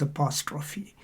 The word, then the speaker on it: apostrophe: is called apostrophe okay it's spelled the same as apostrophe but the practice is called apostrophe so the dramatic situation of